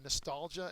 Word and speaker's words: nostalgia: think about SpongeBob uh it's a noun second syllable is accented it is a longing